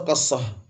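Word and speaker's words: قصة: Bacanya bukan kisah, qassah. Nuzulu al-qassatul baydha wa hiya bi fathil qaf. Qafnya di fathah qa. Bukan kisah. Qa.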